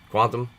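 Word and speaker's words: Qtum: love the blue chip cryptocurrencies quantum is uh pronounced quantum and is far more exciting the secret to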